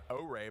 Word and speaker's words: Ore: Ore, by the way, is how that's pronounced if you were wondering.